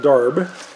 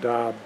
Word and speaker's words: darb: However, it's not pronounced DARB. There's no R in the original word. In fact, it's not pronounced DAB. It's actually more like DAB.